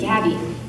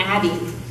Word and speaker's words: Gabi: to speech class I didn't know how to pronounce my G's and my name had to be Gabby so people ask my name I went Abby and they'd be like